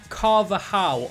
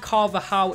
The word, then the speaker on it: Carvajal: and yeah, I think Carvajal is how you pronounce it. The thing that confuses me is he's got a J in his name, but you don't say the J, so yeah, I do